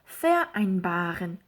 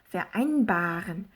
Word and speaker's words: vereinbaren: 비분리 동사의 경우에는 강세가 요 전철에 오는 게 아니라 요 다음에 오죠. 그래서 vereinbaren 요게 아니라 vereinbaren 이렇게 발음을 해주는 게 맞다.